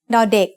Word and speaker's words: ด: As the initial consonant of a syllable, da makes the sound d in diamond.